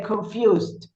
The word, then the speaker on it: confused: Sometimes what what happens that sometimes is is the e is pronounced and sometimes not. We say invited but we say confused or we say talked or we say processed.